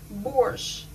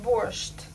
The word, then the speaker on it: borscht: pronounce it worst borscht so we pronounce it borsche not burst very funny and now